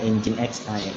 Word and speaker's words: Nginx: Lalu ada Nginx ya, Nginx ya, biasanya yang pada bagian server itu dibacanya Nginx. Di situ ada tulisannya dibaca Nginx ya.